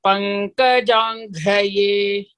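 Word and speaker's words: पङ्कजाङ्घ्रये: Ghra should be Mahaprana.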